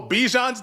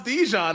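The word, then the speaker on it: Bijan: NIL like all right you could pronounce my name incorrectly if it's going to act give me the bag. Like I think that's why we had it like oh Bjon's Djon. Haha. It's actually Bjon guys.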